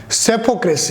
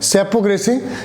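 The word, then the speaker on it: psephocracy: अगला वर्ड है, इसे डेमोक्रेसी से मिलता जुलता ही है, दैट्स कॉल्ड द, देखो पी साइलेंट रहेगा और ये बोलेगा सेपोक्रेसी। क्या बोलेंगे दोस्तों? सेपोक्रेसी।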